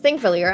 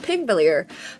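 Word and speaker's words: Þingvellir: this meeting area, and it's pronounced Thingvellir, and I used to think it's pronounced Pingvellir because it's like a little P with a little extra line, if we have any Icelandic people here. But yeah, fun fact, that's the Icelandic letter, or like, I don't know actually if it's, I think they use a letter system. I'm not fully sure. I'm not an expert in Icelandic, but it's pronounced like a th sound.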